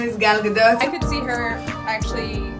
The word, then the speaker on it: Gal Gadot: No, it's not Gadot. It's not waiting for Gadot. We're not waiting for Gal Gadot. It's Gal Gadot, I believe. Gal Gadot? Gal Gadot. Hello, my name is Gal Gadot.